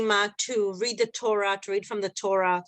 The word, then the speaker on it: Torah: the Torah I mean so in Hebrew we say that the stress is on Torah it's bra we say Torah but it's actually Torah Torah so the Torah is